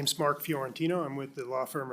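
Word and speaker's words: Fiorentino: Chair Watts, members of the committee, my name is Mark Fjorantino. I'm with the law firm of um Kemper Croll. My last name is spelled F I O R E N T I N O.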